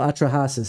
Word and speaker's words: Atrahasis: it atrasis the Acadian creation myth huh so atrahasis is actually yes on the pronunciation oh wait does this have the Epic